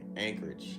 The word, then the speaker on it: Anchorage: See, it is pronounced like a K. Okay, Anchorage.